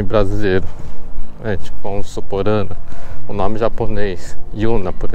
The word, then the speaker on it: Anna: Como eu estava falando, aqui no Japão, existe o N, né? O N é pronunciado. Então fica Ana, né?